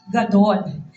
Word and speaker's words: gadol: And in Hebrew, it is pronounced gadol.